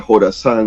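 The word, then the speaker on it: Jorasán: versión de la provincia Jorazán o ISIS o EI, Estado Islámico Jorazán, lo escribe en KH, porque así lo pronuncia en inglés lo que sería nuestra J, pero se lo puede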